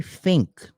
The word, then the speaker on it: think: And why does she, if she's so smart, why does she say think? Like f F I N K. It's pronounced think.